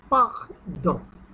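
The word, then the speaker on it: pardon: দ শেষে ও এন ও এন এর উচ্চারণ হলো উ নেজাল উ তাহলে পাখদ পাখদ পাখদ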